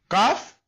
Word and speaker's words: Kaf: Then Al-Harfan al-Lahwiyan, Qaf and Kaf, will be pronounced with the raising of the back end of the tongue and touching the soft palate. And difference between Qaf and Kaf, we told you, Kaf